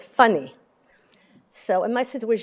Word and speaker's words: Fanny: and my name was f-a-n-n-y which is fanny but they pronounced it funny so and my sister